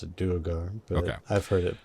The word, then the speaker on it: Duergar: I pronounce it Duergar, but Okay.